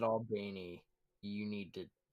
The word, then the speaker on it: Albany: the time fra comes from albany georgia is pronounced albany so you guys pronounce it albany but up top up north they pronounce it albany so i'll i'll remember that all right pronounce it all beanie you need to not